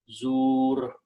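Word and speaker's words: زُور: So the final sound is wajtanibu qawla zuri, but there is an ayat, so you do not pronounce this kasra here, you pronounce zur.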